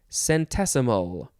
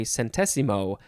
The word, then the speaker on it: centesimo: would want to say sentesimo but it is actually pronounced centesimo no chen tescentazimo centesimo it's italian by the way chantezimo first form noun from